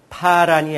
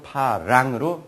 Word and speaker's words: 파랑: 그래서 여러분들은 파란이 아니고 파랑으로 발음해 주셔야 여러분들 그 발음 하나 차이에서 얼마나 많은 작용이 내 몸에 일어나는지 이거는 조금 이따 얘기하겠습니다.